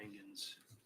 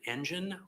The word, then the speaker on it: Engen: Is it engine, like an engine, or is it Engen? I thought I heard her say Engen. It's the latter.